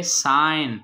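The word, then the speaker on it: sign: आगे है साइन, साइन में जी साइलेंट है.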